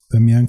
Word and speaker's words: Damián: Si desean estar al tanto de el contenido que publico, me pueden buscar en Facebook como Damián, Damián con acento en la segunda A, con acento en la E.